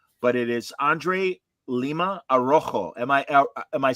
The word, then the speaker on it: Araújo: So I know it's hard to grasp, but it's Araujo.